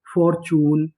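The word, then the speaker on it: fortune: Rule याद रखना है अगर आपको इंग्लिश की किसी किसी भी मीनिंग के आखिरी में इ लिखा मिले तो हम लोग इ का उच्चारण नहीं करते।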